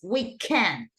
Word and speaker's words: weekend: It's weekend, right? In the end, we have the stress syllable.